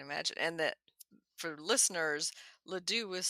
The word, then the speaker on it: Ladew: So not too far from Ladue Gardens.